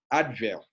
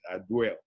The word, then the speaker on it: Advil: And then you have Advil. That's the right pronunciation, but you can also pronounce it Adwell.